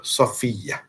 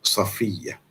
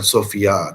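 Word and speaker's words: Safiyyah: kawanan perang tersebut adalah Safiah itulah dari segi sebutan yang Betulnya orang kita sekarang ni nak nama tu macam ala-ala orang putih inggeris ejaannya pun macam lain dan sebutnya pun macam lain tapi yang Betulnya yang inilah Safiah bukan Sofia dan sebagainya walaupun maknanya pun bagus juga tapi itu bukan bahasa Arab Kalau bahasa Arab sebutkannya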